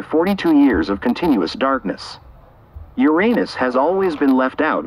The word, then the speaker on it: Uranus: But Uranus, pronounced Uranus in polite astronomical circles, does not deserve its dull or comic reputation.